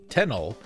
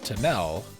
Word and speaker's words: Tenel: in tanel forest and I had to remember to pronounce it t tenel and not tanel which is how I want to say it one single